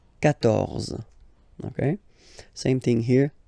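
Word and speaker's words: quatorze: Okay, so you will get the sound K here. K. 14. 14.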